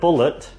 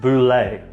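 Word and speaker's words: bulette: the D&D monster, the bullet, the little land shark, is supposed to be pronounced boulet. A little bit of a French twang on it.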